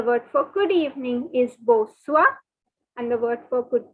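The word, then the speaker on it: bonsoir: for good evening is boswa now take your different colored pen and please note that the n is silent r is silent see i told you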